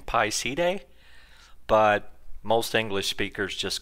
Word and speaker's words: side: means binding actually the the word is more pronounced C Day and it means something more to connecting so technically I guess we should be saying Pi C Day but most English speakers